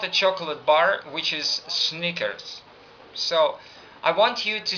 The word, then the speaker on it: Snickers: Snickers, sneakers. Snickers, sneakers.